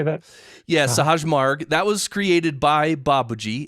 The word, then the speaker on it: Sahaj Marg: Yeah, Sahaj Marg.